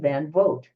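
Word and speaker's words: van Vogt: called slan by AE van vote it's pronounced like you know Cas your vote uh this person this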